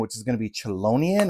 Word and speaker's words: Chelonian: is going to be chelonian I believe it's going to be how it's pronounced now this one that